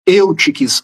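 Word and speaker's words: Eutiques: Existia um, vamos dizer assim, um religioso de Constantinopla chamado Eutics, ouiesques, as duas pronúncias estão corretas, que ele levantou uma tese chamada monofisismo, fizes, natureza, mono, uma só.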